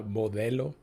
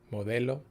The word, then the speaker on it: Modelo: don't pronounce the E Modelo so it's a hard L I think it's what gives it away so for non non-spanish speakers you got to soften the L don't say Modello say